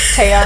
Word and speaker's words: Tea: By the way, for those who are listening, my name is spelled like tea, the drink, but you pronounce it as Taya, as in like Thea, but without the H.